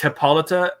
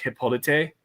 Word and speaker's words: Hippolyta: Yeah, it's Hippolyta, or like if you want to get like really traditional Greek, Hippolyte. Hippolyte.